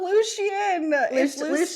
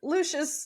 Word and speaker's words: Lucius: my pronunciation of Lucian it's not Lucian it's Lucius Luc I would accept